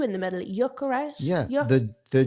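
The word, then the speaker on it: Gyökeres: His pronunciation, his name is Jökeres. He has an umlaut in the O.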